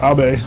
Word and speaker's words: Abbe: I know in German I think it's pronounced more like Abe, but this is America, so I'm saying Abbey.